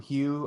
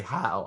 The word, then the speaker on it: Hugh: Hopefully there won't be any Sam Hugh, or it's actually Howe. I want to say Hugh, but it's Howe, but it's spelled Hugh.